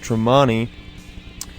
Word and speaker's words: Tremonti: Outside of Van Halen, though, Wolfgang, I didn't know this before this, but he plays in Mark Tremonti's side band, pronounced Tremonti, and it's actually more of a metal band,